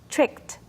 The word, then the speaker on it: tricked: in a D that D sound will change to become like a tea when you pronounce it tricked tricked me tricked me